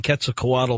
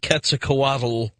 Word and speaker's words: Quetzalcoatl: this is well I'm getting ready to change my pronunciation on this because Daniel Pinchbeck says when it comes to the return of Quetzalcoatl we have to get the L out of here if you will and